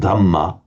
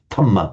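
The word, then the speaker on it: dhamma: But that's again that's a feature of the Thai fanatics because just as English speakers find it difficult to say the sounds Buddha dh dhama so equally the that the ties just unvoice it tama buddha so sambu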